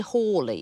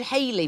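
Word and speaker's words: Halley: by Newton and uh they used to tell us at school to pronounce it Edmund Harley have you heard that that people said Haley for a while because of Bill Haley and the comets and then people went oh no it's Hal Hy they used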